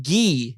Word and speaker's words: Guy: brother is the character gee it's spelled guy guy pronounced gee in mighty ducks and